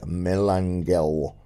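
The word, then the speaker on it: Melangell: To this the prince in admiration replied, "Oh, most worthy Melangel," which is the way the Welsh pronounce Monacella, "because on account of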